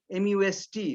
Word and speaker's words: must: For instance, if you say M-U-S-T, must, the T is clearly pronounced when you individually say it. But if you say it in a sentence, it becomes must.